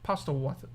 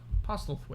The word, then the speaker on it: Postlethwaite: Pete Postlethwaite. Postlethwaite.